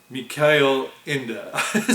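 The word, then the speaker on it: Ende: the guy interviewing him in Germany he introduced him as mik Inda so whatever Michael Inda if you're an American but um right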